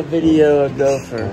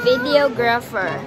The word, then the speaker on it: videographer: Pronunciation. So I said videographer. You don't want a video gopher. I said videographer.